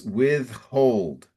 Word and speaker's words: withhold: Prince and in the next line it's withhold withhold. Withhold. And so it's like you want to separate two words. So with and hold and pronounce them both.